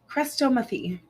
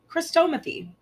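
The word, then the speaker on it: chrestomathy: word it's Cresta methane insert pronunciation here christomothy christomothy that's right yeah Crystal yeah Chris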